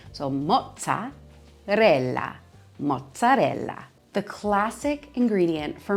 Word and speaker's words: mozzarella: Next up, my favorite cheese, mozzarella, mozzarella. Anytime you have two consonants together in Italian, you're putting the emphasis on that section of the word. So mozzarella, mozzarella.